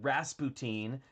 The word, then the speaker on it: Rasputin: huge it was called rasputin or the way they pronounce it rasputin because they needed to have it be three syllables to fit in the song it was a very